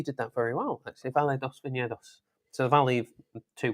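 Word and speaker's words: Vale dos Vinhedos: Actually, I should just leave the pronunciation to you. No, I thought you did that very well. Actually, Valle dos Viñedos.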